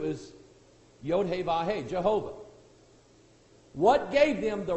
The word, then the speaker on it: Jehovah: yo hey ba hey the pronunciation that according to the Bible is Jehovah I don't have anything to prove otherwise amen I just have my Bible tell me is Jehovah okay now what gave